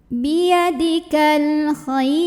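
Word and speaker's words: بِيَدِكَ الْخَيْرُ: Biyadikal khair. Nah, kemudian ra kalau berhenti disukunkan. Dibacanya tarqiq. Kenapa tarqiq? Karena sebelum ra yang disukunkan adalah huruf ya sukun.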